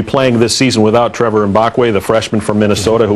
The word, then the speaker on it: Mbakwe: The proper way is Mbakwe. Mbakwe. Yeah, but people say Mbakwe, but yeah. But the proper way is say Mbakwe.